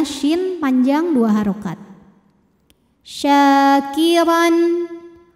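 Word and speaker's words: شاكرا: syin panjang dua harakat syakiron huruf d dibunyikan secara tafkhim sebab rnya ini berbaris fathah tanwin maka dibacanya tebal pangkal lidah kita dinaikkan syakiron Ron ada hukum izhar halqi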